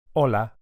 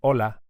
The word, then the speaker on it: hola: in Spanish is Allah hola you can hear that the initial H is silent Ola hola that's it the next